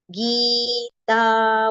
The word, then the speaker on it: Gita: Gita, both the letters with a long pronunciation.